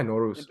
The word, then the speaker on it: Nowruz: So How do we yeah, pronounce Nowruz? yeah, Nowruz, Is that a Farsi word?